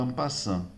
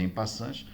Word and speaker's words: en passant: Escreve en passant, mas se pronuncia en passant, ok?